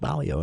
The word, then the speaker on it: Baillio: In the studio with us today, Charlie Schill for the For the People Theater Hour and Celeste Baillio.